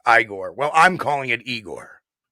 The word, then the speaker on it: Igor: So that's why everybody's saying that Igor. He has Bigfoot on speed dial. It took me a second to get that. I mean, it's pronounced Igor. Sounds like Young Frankenstein.